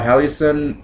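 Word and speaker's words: Halcyon: just her whole album um I think it's pronounced uh hallison it's h-a-l-y-c-o-n it's really good it's actually one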